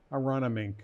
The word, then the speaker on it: Aronimink: Now they're at Ronimink. Did I pronounce that I correctly? played there. Yeah? Did I pronounce that correctly? Aronimink. Ronimink. I played there a couple of times, actually.